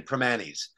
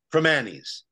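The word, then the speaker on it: Primanti's: That is Holy stop pronouncing the T in primantis it's pronounced from Annie's this stuff makes it sound like a classy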